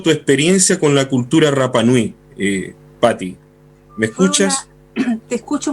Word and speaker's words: Rapa Nui: Mira, para mí lo Rapa Nui, la R no se pronuncia en Rapa Nui, por eso yo digo Rapa Nui. No existe la R, sino la R.